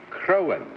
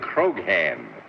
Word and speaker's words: Croghan: And for nearly 18 years, I've been trying to teach you it's John Charles Patrick Crowan. That's the what G I said, is silent. You said Croghan.